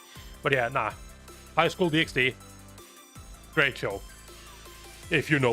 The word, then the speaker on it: DxD: I uh School pxd it's d double D or DD but uh I like pronouncing the X I shall put on